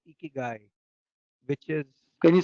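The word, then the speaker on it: ikigai: the way are talking about this word called geeky guy which is can you spell that I K I G a I okay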